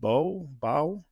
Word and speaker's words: Baugh: And you had a gentleman by the name of Richard Baugh that worked for you. Well, it's pronounced Baugh, but it's spelled Baugh.